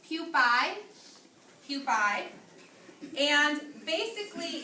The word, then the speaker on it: pupae: This is pronounced pupae.